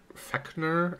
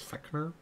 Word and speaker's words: Fechner: This is Gustav Theodor Fechner. I think that's how you say it, is Fechner.